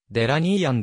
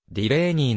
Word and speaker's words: ディレイニー: バンドを従えてデラニー & ボニー & フレンズという名義となっている寺ギーと表記されるが実際の発音はディレイニーの方が近い 1939 年にミシシッピ